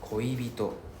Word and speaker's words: 恋人: It's not 恋人恋人. You need to pronounce the E. 恋人.